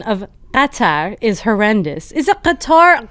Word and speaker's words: Qatar: Well, if the locals say Qatar, like they really accentuate the Qa. Anyway, Cotter sounds like a Fox News host saying it.